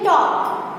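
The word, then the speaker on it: talk: TAL के टॉक। तो यहाँ पे भी L साइलेंट है।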